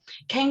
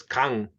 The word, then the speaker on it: Kang: Kane, did you have your hand raised? Who, me? Kane, yeah. Oh, Kane, sorry. Yeah, me. Kang, sorry. Sorry. The correct pronunciation is Kang.